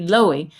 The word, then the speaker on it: Louhi: Yeah, like Low, low, he. That's how I've been pronouncing it. Right. The only thing I know about Finnish is that the stress is always on the first vowel, so it has to be Louhi.